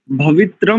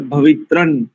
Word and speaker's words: भवित्रं: दूसरी पंक्ति देखिए, शनो विष्णु, विष्णु शमु उषा नो अस्तु शनो भवित्रं, भवित्रम नहीं करेंगे यहाँ। भवित्रम करते ना, तो उच्चारण की दृष्टि से यहां पर भवित्रन, यहां अनुस्वार को नकार उच्चारण करेंगे।